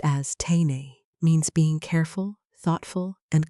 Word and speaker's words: Teinei: Teinei, pronounced as teinei, means being careful, thoughtful, and conscious in every small action.